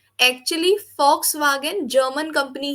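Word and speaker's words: Volkswagen: German company ही है, तो ये वॉक्स वेगन कभी था ही नहीं है, फॉक्स वागन ही था शुरू से। अच्छा। या वी को एफ प्रोनाउंस करते हैं जर्मन में, फॉक्स वागन।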